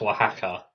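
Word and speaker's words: Oaxaca: a yeah I think I think it's pronounced waka waka cuz see like when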